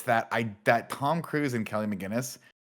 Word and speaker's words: McGillis: Tom Cruise and Kelly McGillis. How do you say her last name? Is it McGinnis or McGillis. McGillis, right? McGillicuddy.